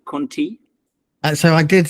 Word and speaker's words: Contea: didn't know but now I know we actually pronounce it how Conti so I did say Conti I actually think